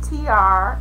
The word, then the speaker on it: Tiare: me my name is TR it is pronounced like the initials like a t and a r but of course it is spelled t i a r e but it is pronounced TR R my blog is